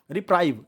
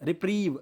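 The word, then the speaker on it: reprieve: रिप्राइव, रिप्रीव, इसको हम रिप्रीव पढ़ते हैं, रिप्राइव नहीं पढ़ते हैं, कभी भी रिप्राइव मत पढ़ना, रिप्रीव पढ़ते हैं, ठीक है ना।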